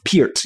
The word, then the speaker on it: Peart: Is it really supposed to be pronounced Peart? Peart, yes.